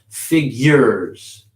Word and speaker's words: figures: There's no Y in there in the word, but put a Y in there. Figures. Figures. That's how you say it.